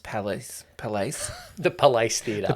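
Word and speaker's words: Palais: not like the State Theater or something it's pronounced Palace pal the police theater the police theater um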